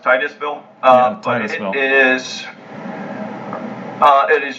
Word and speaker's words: Titusville: well in this map is it tennis ville in the wild area or the it's it's actually pronounced Titusville but it is it